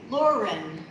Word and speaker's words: Lauren: How many syllables? 2. Stella. 2. Listen to those 3 names. Lauren, Robert, Stella. The rhythm is the same.